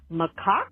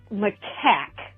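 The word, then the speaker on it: macaque: for a monkey uh normally known as by you all Mao uh after 12 years of working in various animal Industries and zoos as fun as it is to say it that way uh it's typically pronounced maack although have fun and you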